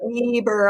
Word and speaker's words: Weber: Part of my mission in life is to get everyone to pronounce Weber correctly. The grill has just made it so difficult to be from my university for a very long time. So Weber all together now, Weber State.